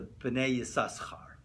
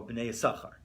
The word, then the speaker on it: B'nai Yissaschar: They pronounce it with a 2, right? Like the way it should be, right? But of course the Ashkenazi go B'nai Yisachar, right? So they swallow up the extra sin, right?